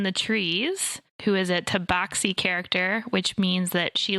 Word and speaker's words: tabaxi: I always pronounced it tabaxi. And so now I want you to name other English words that use the AX to make an ox sound, like the word ox or box.